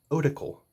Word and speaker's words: Otacle: I say Otacle. People seem to have the hardest time pronouncing this across the board. Like, you got the Otacle P1, Otacle this, Otacle that. I think Oracle. Like, you hear, like, in Dungeons and Dragons, you gotta go talk to the Oracle or something. So I think Otacle in my head.